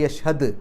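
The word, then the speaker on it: يشهد: വൽ യഷ്ഹദ്, ദാലിന് സുക്കൂന്, കൽക്കലത്തിൻ്റെ അക്ഷരമാണ്, എടുത്ത് പറയാം. വൽ യഷ്ഹദ്, യഷ്ഹദ്.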